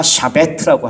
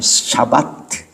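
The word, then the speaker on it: שבת: 히브리어로 안식일을 샤바트라 그래요. 샤바트. 한번 따라해 볼까요? 샤바트. 잘못 발음하다가 샤베트라고 할 수 있어요. 아니면 샤바트. 먹는 샤베트가 아니에요.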